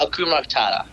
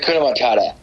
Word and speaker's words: Hakuna Matata: It's all about Akuma Matata. Oh, is it Hakuna Matata?